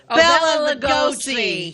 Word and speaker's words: Bela Lugosi: I have no idea how to pronounce it. Is it Boris? No. Bela Lugosi.